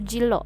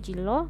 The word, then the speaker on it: 진로: Itu jilo masuknya, dibacanya jilo.